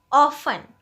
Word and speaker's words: often: पहला वर्ड है ऑफन। ऑफन, इसकी प्रोनाउंसिएशन देखिए, ऑफन। ऑफन, इसमें टी साइलेंट रहता है।